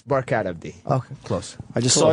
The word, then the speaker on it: Barkhad Abdi: It's Barkhad Abdi.